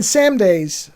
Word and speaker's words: Samedi: And that's when you think about it from Baron Samedi's, or Samdi, they call him Samdi, so I'll try to say it correctly.